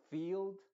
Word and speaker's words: field: estoy refiriendo esa combinación la i va a ser muda y la e se va a pronunciar con su sonido original que es una I Entonces se diría believe Field no se dice believe